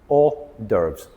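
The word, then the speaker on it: hors d'oeuvres: Overves. So it's a lot shorter. Orderves. Two syllables.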